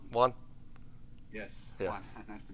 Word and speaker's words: Juan: Did I pronounce that right? Juan?